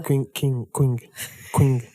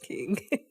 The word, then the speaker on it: Qing: Queen. This is not Queen. Quing. Uh-huh. Quing is just king.